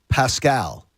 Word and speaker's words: Pascal: really being aggressive here zach pascal as i was told to pronounce it yesterday isn't that from there isn't that from the uh from one of the disney movies yeah it's from uh tangled from tangled pascal uh